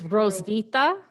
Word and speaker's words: Roswitha: In 1950 CE, Hero It's Roswitha. The H is silent.